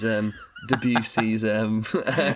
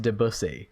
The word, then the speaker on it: Debussy: No, I choose Debussy's Moonlight. What is it? Do you Moonlight Sonata? Is that the other one? It's pronounced Debussy, but yeah.